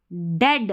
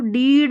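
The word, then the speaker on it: dead: होने लगती है एज डेड डेड अब इसको डीड नहीं पढ़ना है। डीड नहीं डेड डी ई ए डी डेड और इसको भी लिंस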